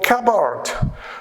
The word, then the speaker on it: cupboard: called independent assimilation so remember this sound is silent it's not pronounced at all right so hopefully you